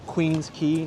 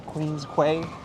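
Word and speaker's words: Queens Quay: running meat okay and we've got the Queen's key not the Queen's Quay have you came across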